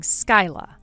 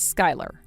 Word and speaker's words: Skyla: Do you read that as Skyla or do you read that as Skylar? Huh? You're supposed to read that as Sky. Sky. So your name is Sky, yet you spell it? It's spelled Skyla, but you read it as Sky.